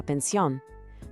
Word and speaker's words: pensión: An inn is la posada, and a bed and breakfast or guest house is la pensión. Pay attention to the accent on the O in pensión when you say it.